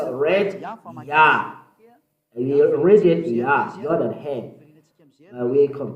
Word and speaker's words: Yah: How to pronounce it? Yah. According to the Hebrew, when you see this word, it is read Yah in Hebrew.